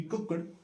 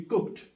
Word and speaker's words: cooked: to pronounce it like the last letter has to be pronounced as T so it will not be cooked it will be cooked so wherever you find